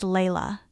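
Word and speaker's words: Laila: Her name was Layla, pronounced Layla, and Sandra described the moment she met her with the same unshakable certainty she'd felt with Louis.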